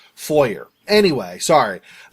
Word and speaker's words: foyer: Like we won't say foyer, but there's no fwa sound really in English anyway, so we say it the way that it the way that seems pronounceable with English, foyer.